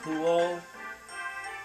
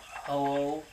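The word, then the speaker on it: Ho-Oh: ways from home okay M Mount hulo I mean Mount hoo okay the way I'm supposed to pronounce it it's like pronouncing the Pokemon hoo Mount hoo well if find a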